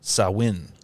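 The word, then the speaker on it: Samhain: the s m Ha i n which is pronounced sawin Smashing Pumpkins a gelic word it's a page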